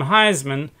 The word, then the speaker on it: Heisman: when you have the show, could you please pronounce it the Heisman Trophy? And he said, well, why would I want to do that? Anyway, so just like they mispronounce our name, Heisman, I mispronounced DeGroat's name, and I was calling him DeGroot.